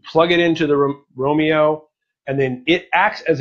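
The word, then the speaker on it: Roamio: it wrong Romeo not Romeo like the star-crossed level from Shakespeare's epic but Romeo like roaming around the TiVo Romeo is an OTA over-the-air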